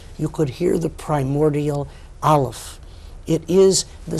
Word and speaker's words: Aleph: It is not, as most people mistakenly think, a silent letter. It is, as Gershom Scholem, the master historian of Jewish mysticism, points out, the sound that the larynx makes as it clicks into gear.